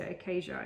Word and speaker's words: Acaeja: So Acacia is how I pronounce it, I think.